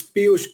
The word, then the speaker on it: Piyush: Is it Piyush? It's Piyush. Piyush, sorry, Piyush.